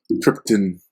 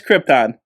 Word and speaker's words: Krypton: planet of the planet krypton trypton as marlin brandon would say yep no i